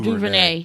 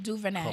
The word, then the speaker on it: DuVernay: How do you say her last name? Duvernay. Duvernay. Yes.